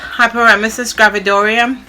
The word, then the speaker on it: hyperemesis gravidarum: i've just been sick i was diagnosed with hyperemesis gravidarum that's how you pronounce it it's a severe form of morning